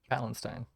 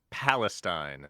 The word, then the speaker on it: Palestine: Palestine Palin P penstein how do you say it palentine Palestine Palestine there's no n in the middle there's no n holy